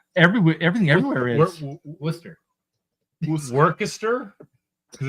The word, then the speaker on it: Worcester: I know people that pronounce it Wista.